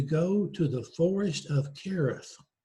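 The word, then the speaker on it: Hereth: to the forest of Kerith. It's spelled with an H, but it's actually pronounced CH, the forest of Kerith.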